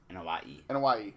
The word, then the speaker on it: Anoa'i: Anoa'i, okay. I can always remember how to pronounce it.